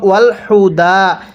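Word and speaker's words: والهدى: অনেকে এই হাটা উচ্চারণের সময় ওয়াল হুদা, এই গোল হাগুলো উচ্চারণ করার সময় মুখ দিয়ে বাতাস বের করা যাবে না। এই গোল হাগুলো উচ্চারণ করার সময় মুখ দিয়ে আওয়াজ করতে হবে, ওয়াল হুদা, এরকমভাবে পড়তে হবে।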